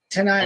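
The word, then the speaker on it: T'Nia: Tanaya And Miller, yeah. Tanai Miller, thank you.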